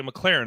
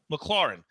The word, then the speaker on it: McLaurin: See, McLaurin, right? McLaurin.